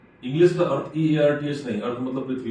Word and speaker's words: Artha: अर्था fintech अंग्रेजी में उच्चारण बहुधाम करते हैं, लेकिन वास्तविक शब्द अर्थ फिनटेक।